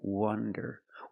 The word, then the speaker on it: wonder: wonder very good so remember the pronunciation difference wander with the open Sound a w wander and wonder the clo sound uh uh uh W Wonder this is not correct